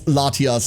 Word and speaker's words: Latias: It would be pronounced Latinos. I mean, it's Latias and uh the other one, right?